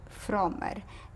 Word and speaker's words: Fromer: Fromer, F-R-O-M-E-R.